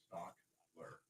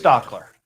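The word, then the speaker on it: Stachler: Yeah, put a K, like STOCK. Stockler. Oh, not an H. Yeah. Well, there's an A. That's how it's spelled, but spelling is STACH. But just Stockler. Yeah, but your pronunciation, yeah. Okay. OCK is like how it's pronounced.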